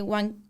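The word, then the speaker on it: Jiankui: Está este señor que se llama He Wanquei. El chino, ajá. Ajá, o sea, se escribe G, pero sí se pronuncia Ha, no sé por qué.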